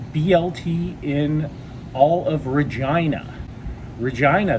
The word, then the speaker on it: Regina: in all of regina regina the city that rhymes with fun and stay till the